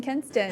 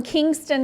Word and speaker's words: Kinston: Right, and you will even get to see Alex Trebek apologizing for mispronouncing Kinston in my initial.